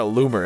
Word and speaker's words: Loomer: Your name is Laura Loomer. It literally rhymes with boomer.